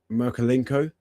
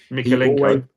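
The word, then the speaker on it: Mykolenko: Is it Merkelenko? Is that how you pronounce it? Their fullback. Mikelenko.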